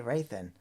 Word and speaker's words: Raythen: glad you think so ray than like nathan but with rounds okay raythen that's a cool name